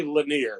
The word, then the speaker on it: Lanier: We're in the South. We say Lanier, so I don't know if that's, but that's how it's said around here.